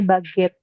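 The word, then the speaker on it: baguette: di layar bacanya baget Kenapa dibaca baget karena huruf u setelah G itu membuat g-nya kebaca G sedangkan kalau huruf g diikuti huruf e ya itu kebaca jadi g-nya kebaca z z bukan G lagi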